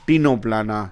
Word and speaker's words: Ctenoplana: So here we are taking example of only 2, Pleurobrachia and Ctenoplana. Here again C is to be written, but C is silent.